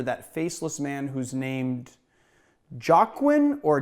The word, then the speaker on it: Jaqen: This one's called The Cocktail Has No Name, and it is named after that faceless man who's named Jaqen or Jaqen. It's spelled J-A-Q-E-N.